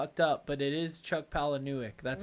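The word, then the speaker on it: Chuck Palahniuk: really up but it is Chuck pal that's how you pronounce it that's correct I do know that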